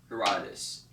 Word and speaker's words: Herodotus: I'm going to use my little thing right here, Herodotus. It's spelled hero and then dot and then US, like the US.